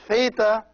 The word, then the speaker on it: theta: The Theta is pronounced like the TH in thanks. So it's th, th.